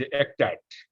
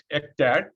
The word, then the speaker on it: ECTAD: When you are talking about the ECTAD, maybe you can pronounce it as ECTAD. We normally call it ECTAD, an Emergency Center for Transboundary Animal Disease.